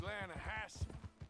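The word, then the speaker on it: Lannahechee: the other day I rode down to the Lana hexie River I caught some beautiful steelhead trout Lana no Lana hacci it runs right here here yeah but it's pronounced Lana Hass why is everything in English said differently than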